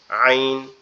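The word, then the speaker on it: عين: আইন আইন সরি আমার গোলাটা গলায় একটু বসে গেছে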